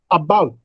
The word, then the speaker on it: about: About. Now there are two syllables, and bout. Now bout receives greater breath force. Therefore, we say that bout is a stressed syllable.